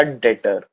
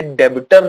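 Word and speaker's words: debtor: next आता है आपका डेटर यहां पर एक बात ध्यान रखना इसे डेबिटर नहीं पढ़ेंगे यह जो बी है आपका यह बी साइलेंट होता है ठीक है डेटर पढ़ेंगे सी अब ये डेटर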